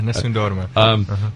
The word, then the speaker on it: Nessun Dorma: Al flipped out when he heard Nessun Dorma on your EP. Am I saying it right? Yeah, Nessun Dorma.